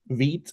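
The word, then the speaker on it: Vite: What's the proper way to pronounce it? Because I am confused on V, that. Vit and V-test. Veet and V test.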